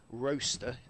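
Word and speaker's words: Rocester: Good afternoon to Richard Jones, who's watching, he says, slightly further away than the usual roaster, and he reminds me how to pronounce it, as in toaster, in Staffordshire, as he's holidaying in Skiathos, where there is clear blue sky and plenty of heat.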